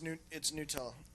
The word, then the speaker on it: Gnutella: It's called, I think it's probably pronounced Nutella. Gnutella. No, it's Nutella. Nutella? Nutella. Okay. Yeah, the G silent. G silent.